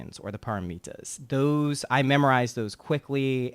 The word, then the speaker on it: paramita: But it's paramita in Sanskrit, parami. Okay. Paramis in Pali, which is the language of the original Buddhist text.